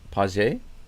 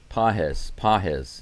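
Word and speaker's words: Pagés: Hunter Brown is now facing Pedro Paget.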